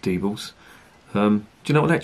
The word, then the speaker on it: Diebels: one here, an out beer from the Diebels Brewery, which is based in a place called Cleve in Germany, right on the border with Holland.